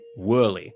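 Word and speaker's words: Woerlee: who I was mentioned he pronounces it whirly I don't know how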